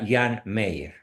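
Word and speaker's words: Jean Meyer: muy asertivo muy valeroso se escribe hean Mayer con y se pronuncia Jan Meyer este señor escribió eh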